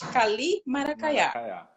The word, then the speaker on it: Kalymaracaya: kalymaracaya vai fazer isso muita gente tem dificuldade em falar o meu nome mas é assim a pronúncia se escreve daquele jeito lá mas se fala perfeitamente é só falar pausadamente kalymaracaya é o nome indígena